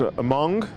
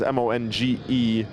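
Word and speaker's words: Monge: It is, I believe it's pronounced Mong. I think it's the roster given, the handwriting not perfectly clear. I'd been saying Monroe, but I believe it is M-O-N-G-E, which would be Mong.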